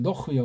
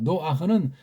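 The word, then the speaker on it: נח: 노흐가 아자는 발음 못하는 서양 애들이 집어넣어가지고 노하고 요거 발음이 안 되니까 그냥 모음도 아닌 부드러운 모음 기호 아자 붙이고 노흐라고 하세요. 앞 이름을 노흐요. 우린 그렇게 소리가 내잖아요. 노아흐는 서양 문자, 서양 소리의 엉망진창으로 발생한 거예요.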